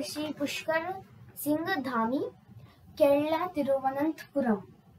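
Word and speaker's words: തിരുവനന്തപുരം: केरला तिरुवनंतपुरम। सो एक बार फिर से मैं सब प्रोनाउंस करिए तिरुवनंतपुरम पुरम तिरुवनंतपुरम ठीक है, थोड़ा डिफिकल्टी होगा थोड़ा ठीक होगा।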